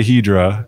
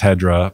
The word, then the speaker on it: Hedra: I say Hedra because it comes from polyhedra, you know, the shapes basically. And everyone in the US says Hedra, but I'm like cool with that.